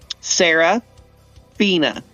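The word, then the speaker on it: Serafina: it doesn't bother me it's just like um Sarah Fina Sarah Fina new characters or call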